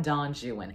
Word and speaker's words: Don Juan: in terms of long-form epic poetry we have Don Juan and yes we are supposed to pronounce it like that apparently because Lord Byron